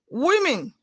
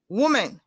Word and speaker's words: women: village language not language women not women the letters o and e in that word are pronounced with sound e women built guilt mandy